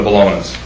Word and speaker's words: Bologna: I just wanted to ensure from the Bolognas. Yes, Robert. Yep. Mm-hmm. Yeah. Dated April 15th, 2013. It says, to whom it may concern, we, Robert, and Linda Bologna, am I pronouncing that correctly? You are.